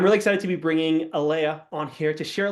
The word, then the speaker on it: Aleah: It's Aleah, not Aleah. Yes, Aleah.